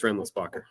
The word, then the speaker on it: Rindlisbacher: My name is German Swiss, so I'm sure Christopher Lutz could tell you how to say it better than I can, but here in the States, it's Renlisbacher.